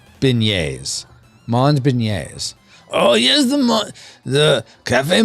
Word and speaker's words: beignet: Kirk says Mond is the pronunciation and it's pronounced Beignets Beignets oh yes the Cafe Monument yes I